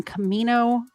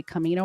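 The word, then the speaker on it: Camano: in his mother's house on Camino it's spelled Commando Island but in all the news stories I watched they say Camino Island so they he grew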